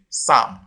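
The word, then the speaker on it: psalm: You can see in balm and Sam, the letter L is written, is spelled, but it is not pronounced.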